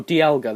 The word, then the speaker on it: Dialga: Oh no, Dialga, that's how you say it.